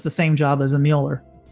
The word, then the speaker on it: Mueller: Well, then is it really Miller? No, it's not. It's Mueller. It's either spelled with the UE or the U with the umlaut. If you pronounce it Muller, then it's also probably Mueller.